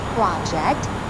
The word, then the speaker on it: project: project in this case the stress goes project when it's a verb that should be reject